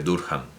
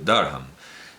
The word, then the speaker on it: Durham: Educado en el Colegio del Rey, en la Universidad de Durham, es que claro, si lo pronunciamos a la española sale una cosa rarísima, porque nadie dice Durham en inglés, Durham.